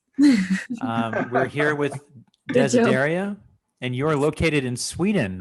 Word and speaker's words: Desideria: Is it Desideria? It's perfect. Okay, good. Yes. We're here with Good job. Desideria, and you're located in Sweden, right?